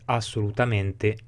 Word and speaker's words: assolutamente: finale, chiamatela come volete, in mente viene letta la prima sillaba, che in realtà diventa la penultima poi nella parola, con la E aperta, ed è assolutamente, eccolo qui, sbagliato in lingua italiana corretta.